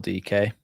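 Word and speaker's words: Dike: coming on for though Daryl DK as I'm now reliably informed it's pronounced it's going to be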